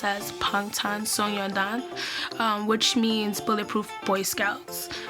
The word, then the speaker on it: Bangtan Sonyeondan: The B sounds like a P, so it won't pronounce as Bangtan. It will be pronounced as Bangtan Sonyeondan, which means Bulletproof Boy Scouts in Korean, beyond the scenes in English.